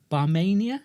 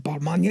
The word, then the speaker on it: Barmania: Barmania. That's correct. I pronounced it right. Yes. It's I was going to say Bartman. It's exactly as it's spelled. Yes. Barmania.